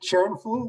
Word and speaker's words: Kärnfull: okay that's that's how careful energy was born um what actually what does the word careful so you pronounce it churnful right is a play on